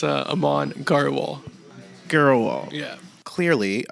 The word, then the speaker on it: Grewal: garal gal yeah clearly I wasn't any good at pronouncing his last name and it wouldn't be so bad if I hadn't known him going on 10 years I've been pronouncing it wrong all these years what you been saying GRE wall yeah that's pretty much what everyone says they also say gr Wal